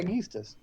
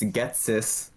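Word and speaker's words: Ghetsis: Yeah, Yeastus. It's Getsis.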